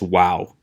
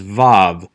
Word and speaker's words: vav: choose are hopelessly inconsistent many scholars including myself pronounce this letter as vav with a v sound which is how i will pronounce it in this class and yet we still